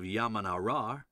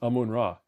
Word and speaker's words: Amun-Ra: Or there's discovering the Siwa Oasis and being acknowledged as the son of Yamanarar. I'm sorry, how did you pronounce that? Yamanarar? It says Amun-Ra.